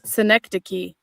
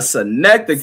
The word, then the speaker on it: synecdoche: I guarantee none of you motherfuckers can pronounce that word on there. All right, so here it is. Synecdoche. A synecdoche.